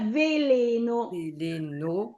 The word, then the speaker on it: veleno: Veleno, la parola veleno. Veleno sulla O? No. Noi non siamo francesi che accentano l'ultima sillaba, no?